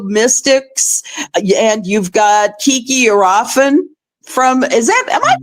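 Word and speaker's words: Iriafen: Um, you've got uh the rookie Sonia Citroron uh from the Mystics and you've got Kiki Arafen from Is that Am I pronouncing that right? Yes. Arafen.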